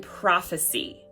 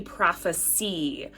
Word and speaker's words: prophecy: So pay attention to whether someone is prophesying with that long I sound or you're talking about a prophecy with that e sound on the end.